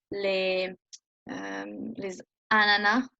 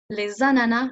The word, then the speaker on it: les ananas: So here, les ananas, meaning the pineapples. Les ananas, you would just pronounce the Z.